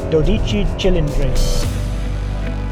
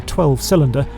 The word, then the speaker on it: 12Cilindri: a particularly sharp suit, just practicing saying 12Cilindri. So, don't call it the 12-cylinder and definitely don't truncate it to 12C, particularly if you're near Woking. Here's Enzo Ferrari saying it correctly while talking about the